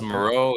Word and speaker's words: Maurex: It's Moreau. It's spelled Mareux.